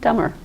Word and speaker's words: dumber: it's not pronounced -- anything off that word, any possible addition you have to that word, the B will still not be pronounced. So you have THUMMED, BOMMING, DUM and DUMMER.